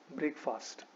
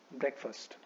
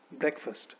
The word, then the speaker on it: breakfast: दिया जाता है तो वी डू not pronounce this word as ब्रेकफास्ट. ठीक है? जैसे कई बार लोग बोलते हैं कि आई am having ब्रेकफास्ट, which is an error in pronunciation. That is pronunciation में वो गलती हो गया क्योंकि आपको इसको ब्रेकफास्ट नहीं बोलना चाहिए, आपको इसको बोलना चाहिए ब्रेकफास्ट. ठीक है? तो इट इज ब्रेकफास्ट.